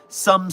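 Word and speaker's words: Soem: Furthermore, it is not up yet, but Soom Studios, pronounced some studios, but I have to say so M because it's spelled S O E M.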